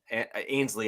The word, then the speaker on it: Ainsley: You have now moved to Ainsley, or Ainsley is how I'm going to pronounce it. I assume that's how you pronounce it correctly.